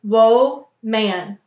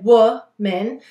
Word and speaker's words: woman: But we don't say woe man, we say woman.